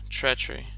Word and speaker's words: treachery: Yeah, so it's actually pronounced like a ch. Treachery.